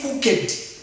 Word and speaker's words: cooked: Don't say cooked. This one is T. This one is T in terms of pronunciation.